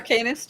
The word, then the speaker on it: Arcanist: Arcanist, you got it right.